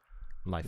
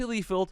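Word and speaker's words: Liefeld: say his last name lield leld thanks guys I always say lefeld it's not that's not what it is if you're one of those and you're like me it's say it again lield lield what a go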